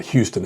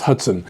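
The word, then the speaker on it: Hutson: It's not Houston, it's Hudson, and Nicholas Caldwell in 2016.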